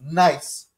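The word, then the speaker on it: gneiss: this is likely to be a nice g-n-e-i-s-s nice and what does its presence tell the geologists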